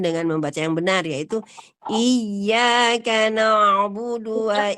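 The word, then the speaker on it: إِيَّاكَ: Bacaan yang salah adalah iya, i-nya dipanjangkan. Iyyaka na'budu wa iyyaka nasta'in. Iya, i-nya dipanjangkan. Iyyaka na'budu wa iyyaka nasta'in. Nah, itu kalau bacanya seperti itu. Ya, i-nya dipanjangkan. Jadi bacaannya kami lebih abadi dari engkau dan minta perpanjangan waktu. Nah, hati-hati ya membaca i dengan iya itu berbeda banget artinya.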